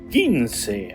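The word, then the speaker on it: quince: The number 15 is written like this in Spanish and it is pronounced gins.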